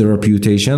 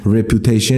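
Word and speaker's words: reputation: هستی به همین راحتی پس یک تلفظ رپیوتیشن رو داریم داریم داریم رپوتشن نیستشنشن خب وزن م یادتون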